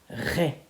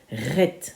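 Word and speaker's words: Het: Alors, la lettre Et est un peu particulier parce qu'en réalité, elle se prononce Ré, Ret en général.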